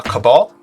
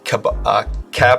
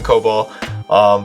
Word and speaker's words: Cabal: Now we're going to make sure we also have the correct version of Cabal. I don't know how to say it. Sorry, I keep always saying COBOL.